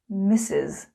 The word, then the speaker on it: Miss: like kisses mrs mrs misses miss sounds like the name chris miss miss miss miz